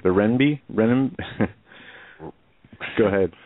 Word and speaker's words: renminbi: Yeah, and it's, you know, the other article I saw today that it says the, I never pronounced this right, the renminbi? Go ahead. Renminbi.